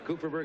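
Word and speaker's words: Kupferberg: f e B RG how would you pronounce that exactly as you did cooperberg cooperberg and Sylvia toer top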